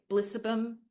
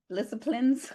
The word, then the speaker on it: Blissiplines: H, I love this because um I've really just started to deepen into my blissum again. Did I say it right? Blissiplines. Blissiplines. Instead of disciplines, they're blissiplines. Bliss disciplines.